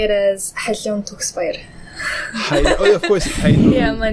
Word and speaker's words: Khaliun Tugsbayar: That's a pretty decent way to pronounce it. So how would you say it? I would say it as Khaliun Tugsbayar.